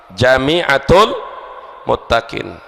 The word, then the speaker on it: Jami'atul Muttaqin: Jami'atul Muttaqin itu perlu diluruskan, Jami'atul Muttaqin. Kalau itu bacanya Jum'atul Muttaqin, jim isim fa'il, fahuwa jami'un, jami'un fahuwa jami'un, mu'annas Jami'atul Muttaqin, tempat mengumpulkan orang-orang yang bertakwa.